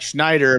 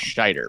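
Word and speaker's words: Scheider: It's like it's like Schneider but with no end. So it's Schneider.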